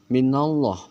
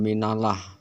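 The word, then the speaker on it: من الله: Keterangan sebelum lafaz Allah ada huruf berharakat fatkah, maka lafaz Allahnya itu dibaca tebal. Minallah bukan minalah.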